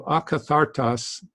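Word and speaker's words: ἀκάθαρτος: So akathartos, and there's the T, means unclean or dirty.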